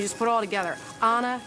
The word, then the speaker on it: Ana: Well, I have this large public platform to say that it's pronounced Anna. Like turn on a light, turn on a switch.